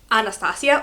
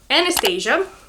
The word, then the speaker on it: Anastasia: The fifth name is Anastasia, or Anastasia, or in Spanish Anastasia.